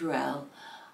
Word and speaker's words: Ruelle: the original artist and I think her name is pronounced Ruel sing this you know